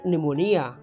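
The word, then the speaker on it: pneumonia: Answer night, K, knowledge, K, नॉट, K, psychology, P, अँड निमोनिया, पी, लिम, बी, डम, बी, comb, B, honest, H, hour, H, and school, H.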